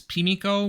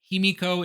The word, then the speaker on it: Himiko: As a quick side note, the name of this queen is sometimes given as Pimiko, which is a variant reading of the characters used to write it. Himiko is the more common pronunciation, so I'm going to stick with that.